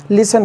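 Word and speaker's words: listen: पर कुछ different type के हैं जब टी साइलेंट होता है जैसे एल ई एस टी ई एन जिसको हम लिसन पढ़ते हैं क्या पढ़ते हैं लिसन जिसका मतलब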